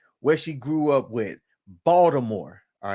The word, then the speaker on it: Baltimore: native baltimoreans all right there's no D in Baltimore right but you would think it would be based off of the way that they said but Baltimore Baltimore Maryland is about